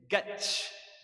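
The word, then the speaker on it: گچ: It's gach, gach. Ga does not exist in Arabic, and cha does not exist in Arabic, right?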